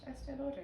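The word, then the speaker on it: Estée Lauder: Estee Lauder, yeah.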